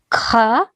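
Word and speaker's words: خاء: And This is like snoring. Kha.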